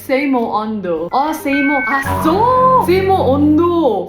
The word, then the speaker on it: samoondoh: Gift from Samo Ondo. Sorry, it's Seimo Ondo.